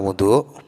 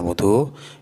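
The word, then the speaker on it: وضوء: Kata wudu bila huruf wawu dibaca dhammah artinya adalah pekerjaan. Jadi pekerjaan wudu itu cara membacanya adalah dengan wawu diharokati dhammah.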